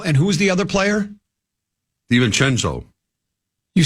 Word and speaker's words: DiVincenzo: All right, I'll pronounce it correctly. DiVincenzo. I like saying that. DiVincenzo.